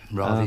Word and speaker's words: Ravi: get a bit lighter Rish Shankar's album I know pronounce that wrong Ry Shankar that's right yeah uh what's this